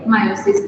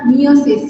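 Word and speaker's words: miosis: কারণ circular smooth muscle contraction হয়, আইরিস তখন ছোট হয়ে যায় পিউপিলটা, এটাকে বলে মায়োসিস। ইট ইজ নট মিওসিস, remember. মিওসিস মানে সেল ডিভিশন, উচ্চারণে বানানে আলাদা।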